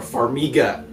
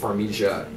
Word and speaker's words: Farmiga: Farmiga. Vera Farmiga. I always thought it was a soft G, or with Farmiga. I was wrong.